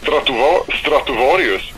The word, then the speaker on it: Stratovarius: Stradivarius? Well, in Swedish, it's Stratovarius, but I don't know, Stradivarius, Stratovarius, it's like some sort of word joke between, you know, the violin and a Stratocaster.